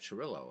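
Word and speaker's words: Cirillo: Young at short and Jeff Turillo, and I'm using the Italian pronunciation at third.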